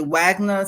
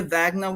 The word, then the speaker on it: Wagner: to be done the Wagner situation of Vagner some people say Vagner which is I think the right pronunciation English we say Wagner um so a lot